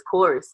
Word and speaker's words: Chor(e)s: So it's interesting you chose um Chores because it can play a couple ways. He could play his chorus, too, because the E is in parentheses.